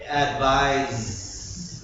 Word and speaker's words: advise: like an S advice advise like a z it's a please advise